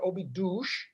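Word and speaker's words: Óbidos: we live outside a little town it's called obi dosh okay the portuguese pronounce it obi douche uh it's a 800 year old castle town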